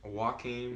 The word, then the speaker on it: Joaquin: pronounce name chuckling chuckling no it's Joaquin Joaquin it's not his real